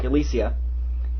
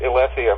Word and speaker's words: Ylesia: idea how that's pronounced I always pronounce it elesia myself but uh you know it's I always I always went for elisia because it sounded like um alician fields and right yeah now